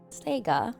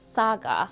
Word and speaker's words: Saga: Not Saga, it's Saga. I've been pronouncing it wrong.